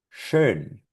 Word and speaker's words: schön: Schön, schön, schön.